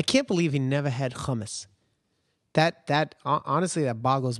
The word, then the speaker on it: hummus: some uh some hummus humus that's how you say it humus like that and